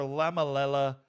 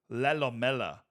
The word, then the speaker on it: Lelamela: Ours was so laid back, but hey, we got a goal for Lamalela. Oh, I've been saying it wrong. Lelamela.